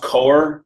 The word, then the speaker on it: Coeur: I believe it's pronounced Coeur Mining Incorporated. It's spelled C-O-E-U-R, but the symbol again is C as in Charlie, D as in Doug, E as in Eric.